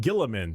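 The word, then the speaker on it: Guilliman: Primark Rabboute Gillamin.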